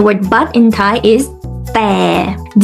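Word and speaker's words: แต่: And the word but in Thai is แ ต ่ DT means that it's the mixture of the D sound and the T sound. It's like when you say the word stop, it's the T. Stop.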